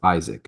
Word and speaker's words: Ishak: is hat and he said no it's I pronounce it as Isaac I was like come on man no well